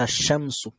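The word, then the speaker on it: الشمس: আসার পরও যদি আসে, তবে আমরা লামটা উচ্চারণ করব না, আমরা ডিরেক্ট তাকে তাসদিদ দিয়ে ধরে ফেলবো, যেমন হচ্ছে আশ-শামসু, তাই না?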